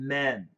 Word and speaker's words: men: Could you explain the difference between man and men? Pronunciation difference. Is a short A and a short E. So the short E is easy. Men, men, men, men, men.